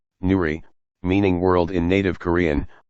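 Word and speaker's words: 누리: Nuri, Korean pronunciation, Nuri, meaning world in native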